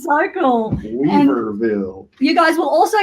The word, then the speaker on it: Weaverville: Weaverville.